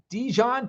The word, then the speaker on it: Dijon: All right, Dijon, pronounced just like the mustard.